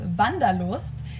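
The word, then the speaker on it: Wanderlust: kind of an oldfashioned German word that we pronounce vandalo and it's literally the desire to wander so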